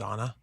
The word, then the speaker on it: Zanna: Is it Zanna? Zanna. Zanna. I keep getting that wrong. I She used to tell people it was like Xanax without the X.